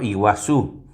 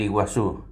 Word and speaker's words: Iguazú: Por ejemplo, iguazú. Nosotros decimos las catrata del iguazú. En realidad i no es i, sino es una un sonido cultural que significa agua. Guazú es grande, o sea, las cataratas de agua grande.